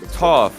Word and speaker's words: Toph: Is it pronounced Toph, chat? Is it Toph? Yes, it is.